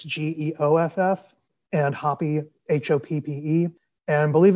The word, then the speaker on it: Geoff: Geoff is spelled funny. It's Geoff, and Hoppe, Hoppe.